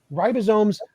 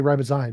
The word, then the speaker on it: ribosome: So, why did you say ribosy? Because ribosy is is like a like a type of lime drink.